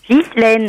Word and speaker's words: Ghislaine: Bonjour, Comment je dois dire ? Ghislaine. Ghislaine, comme ma sœur, pareil.